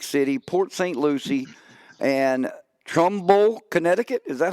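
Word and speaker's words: Trumbull: of marada Atlantic City Port St Lucy and Trumble Connecticut is that how you say it yeah uh Trumble Connecticut that's correct and then uh that's our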